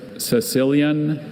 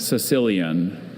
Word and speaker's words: Sicilian: Are there any alternate pronunciations? There's Sicilian and Sicilian.